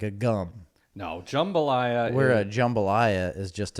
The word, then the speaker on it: jambalaya: and a jam balaiah it's not jambalaya's jambalaya my jambalaya no you put the wrong and fastest on the wrong syllable Shambala no it's jambalaya and I think it